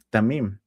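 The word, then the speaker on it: תמים: Y ya vimos que la palabra perfecto en su manera de pronunciar es tamim.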